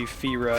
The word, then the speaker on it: Fira: Because, like, Japanese it would be Fira if it's spelled that way. F-I-R-A. They'll always pronounce an I alone as a E sound.